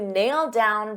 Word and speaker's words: nailed down: Now, nailed, notice in the past simple that ed is a very soft D. Nailed, nailed. But we have nailed down. So because I have a D sound on down and these two go together, I'll pronounce it as one and you'll only hear one D sound.